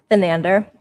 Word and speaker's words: Thanedar: Thanedar. He's horrible. Yeah, okay. Shashi Thanedar, this guy is running against Donovan McKinney is trying to who's cool. He's very cool. Shashi Thanedar the Um he is 71 years old.